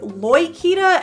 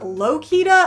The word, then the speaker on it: Lokita: I will be sticking with Loikita and not Lokita. I know there's some debate around this, but that's the result of a poll that I did on the subject, and also the pronunciation that the most prolific voice on the matter currently, Dimension Master Studios, goes with.